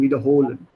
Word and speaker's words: wiederholen: Make sure your Betonung liegt auf der zweiten Silbe. Yes. Not wiederholen, sondern wiederholen.